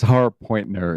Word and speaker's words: Harpointner: Yeah, it's Harpointner.